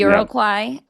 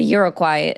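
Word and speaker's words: Iroquois: Yeah, I've always heard irokoy, but yeah.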